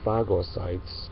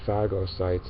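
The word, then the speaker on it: phagocytes: But what the white blood cells do is they're fagosytes and they go around looking for foreign material that could be harmful and they get rid of it. And by the way, fagosytes is spelled, if you want to look it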